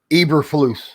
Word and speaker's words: Eberflus: And I got a quote here from your defensive coordinator, whose last name I couldn't pronounce, so I didn't write it down. What is it? Eberflus.